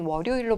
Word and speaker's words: 월요일: 있는 환경이 있긴 합니다만 월요일의 경우는 월요일로 발음하는게 맞습니다 그래서 이유를 따지고 들어가면